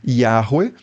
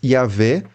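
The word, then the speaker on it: Yahweh: tempo e do espaço a reconstrução acadêmica internacional mais convencional hoje é é algo como yahwe ou em português yahvé é Jesus era judeu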